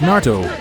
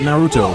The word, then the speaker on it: Naruto: It's Naruto. Huh. It's Naruto, not Naruto or Naruto. It's just Naruto. The original anime tells you how it's pronounced.